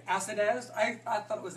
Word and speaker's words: Acidez: me know if I'm not saying it correctly, Acidez? I thought it was Acidez.